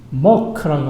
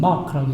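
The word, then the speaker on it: mock: 킹 제임스 역의 이 모크라고 하는, 영국 사람들은 모크라고 읽고 미국 사람들은 마크라고 읽는데 M-O-C-K.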